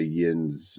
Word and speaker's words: Yinz: I can't visualize the map, but there's a Yins section and then a non-Yins section.